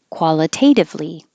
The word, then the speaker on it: qualitatively: And qualitatively. Qualitatively. And this is 5 syllables, so it's clear over here.